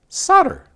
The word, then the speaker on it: solder: often pronounce solder as solder because that's how it's pronounced the american pronunciation would appear to have french origins you're right but and